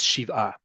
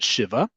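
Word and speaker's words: שבעה: because it's 7 days, in modern Hebrew is Shiva, because that's the name. It is not Shiva. That's the Ashkenazi pronunciation of it, which is, again, legit. That is just not modern Hebrew pronunciation.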